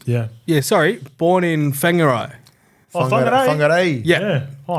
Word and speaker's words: Whangarei: Oh, Have I pronounced that correct? Yeah. Whangarei. Whangarei. Whangarei. Say that was because it's WHA. Is that right? But WH is like Whangarei. Remember Benji and Fakatani. Fakatani. It's WH.